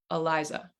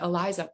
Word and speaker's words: Eliza: And folks, in English, my name has one stressed syllable in the middle. I have 3 syllables in my name, Eliza.